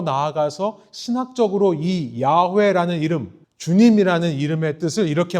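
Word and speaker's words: Yahweh: 우리가 이것을 여호와라고 읽었습니다만 정확한 말은 주님 혹은 야회라는 말입니다.이 야회라는 이름이 주님이라는 이름이 여기서부터 나왔습니다.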